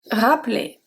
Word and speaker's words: rappeler: Now a verb, rappeler. Rappeler. In a sentence, pouvez-vous rappeler la cliente quand vous avez le temps? Pouvez-vous rappeler la cliente quand vous avez le temps?